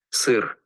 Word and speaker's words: Сыр: Сыр. Сыр, Сыр. sir.